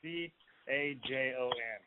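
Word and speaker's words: cajón: One in the video, that's called a cajon. It's a Spanish instrument used in flamenco music. Ah, it sounds Yeah, good. It's spelled like Cajun, C-A-J-O-N. And it's pronounced cajon.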